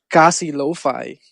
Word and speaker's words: Kasi Lo-Fi: You might not know this, but my first project was called Kasi Lo-Fi. That's spelled Casilofi.